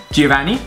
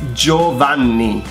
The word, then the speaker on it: Giovanni: Giovanni. It's Joanni. Joanni. Joanni.